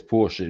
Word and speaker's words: Porsche: But yes, Porsche is the correct way of pronouncing that one.